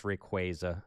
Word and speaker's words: Rayquaza: How do you say Rayquaza? It's Rayquaza. I know. I don't like it. It's Rayquaza.